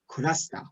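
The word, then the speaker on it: クラスター: kovid was happening they were using words like kurasta like cluster i believe that was supposed to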